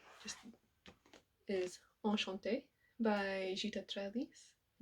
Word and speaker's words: Trelease: Just currently reading just is Enchanté by Gita Trellis. Don't know why, but I always pronounce it in French.